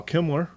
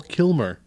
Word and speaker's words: Kilmer: say it all fine I am going to say it correctly for you it's Val Kilmer Kilmer Kilmer Kimler did did